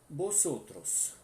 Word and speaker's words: vosotros: Vosotros, vosotras estáis. Tá? Vosotros, vosotras estás. Sempre lembrando, né, que o V tem som de B, por isso que eu estou pronunciando vosotros, vosotras, e o S com som de dois S, né?